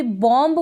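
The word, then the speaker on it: bomb: तो रूल है इसका, M के बाद B आएगा, तब हम क्या करेंगे, इस B को प्रोनाउंस नहीं करेंगे। हम कभी भी बॉम्ब बोलते हैं, बॉम्ब की स्पेलिंग बोलते हैं ना, बॉम्ब, तो वो गलत प्रोनाउंसिएशन हो जाता है। बॉम्ब ना बोले, बॉम्ब बोलेंगे, यानी M पे ही आप रुक जाएंगे।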